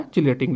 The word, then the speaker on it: chelate: इसको चिलेट भी बोलते हैं, इसको किलेट भी बोल देते हैं प्रोनाउंसिएशन में, तो इसको बोलते हैं मेटल चिलेट।